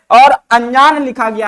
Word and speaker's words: अनजान: लेकिन होता क्या है जब हम अनजान का उच्चारण करते हैं तो हमारे मुख से किसी भी प्रकार का ना का विशेषता उच्चारण नहीं होता है। लेकिन नासिका के माध्यम से स्वर उच्चारण जरूर होता है।